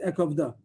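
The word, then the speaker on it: ואכבדה: It's pronounced Ekovda. A Karina and Ekovda, but the pasuk is missing a hey. It doesn't say the hey, it's a Korean eksiv. It has the Ekoved, but we read it the Ekovda.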